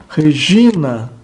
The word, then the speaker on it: Regina: assento recai sobre ela exemplo Regina a penúltima sílaba J é longa o nus a